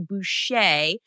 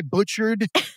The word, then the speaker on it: Bucher: you this before and my last name is actually Boucher um you know you may nice I butchered butcher well I like to tell people I'm sure you're familiar with The Waterboy oh yeah that's what